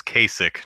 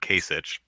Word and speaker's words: Kasich: laxster tells me that it's Kasich not Kasich maybe maybe if he'd ever been on the debates I'd know how to pronounce his name um the miracle says